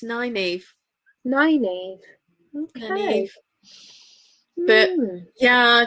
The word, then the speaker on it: Nineveh: Now, I looked at the name and thought, how do I pronounce that? Nineveh? Well, I wondered if it would be like Nineveh, but apparently it's Nineveh.